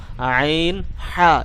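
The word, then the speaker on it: عين: ঠিক সামনের পাশ দিয়ে আমি হামজা হা এটিকে উচ্চারণ করলাম। এখন আরেকটু ভিতরের দিকে চলে যাব, আইন হা, এরকম আইন হা, আইন হা।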